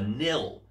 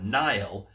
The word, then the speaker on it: Nihil: So the Papa Nihil figure comes with a standard pop box.